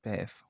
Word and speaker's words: bev: So for example, some examples of this are aunt, arth, near, also Now, the correct pronunciation of these words is Heath and Bev, which I didn't get quite right in the video.